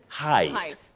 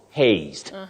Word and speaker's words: heist: say Heist Heist Heist a bankk heist not Hast so haste is for